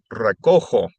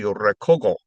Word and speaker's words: recojo: For example, recoger, to pick up, becomes recojo. If it was spelled with a G, it would be recogo. So it needs to be recojo in the yo form.